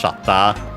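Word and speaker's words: シャッター: Uh yeah, in this case of course of the camera and as expected is accent on the first syllable just like in English shata.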